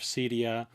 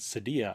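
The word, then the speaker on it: Cydia: an orchid co-founder the creator of cedia actually i think you pronounce it sedia i think i heard you say last week and many other contributions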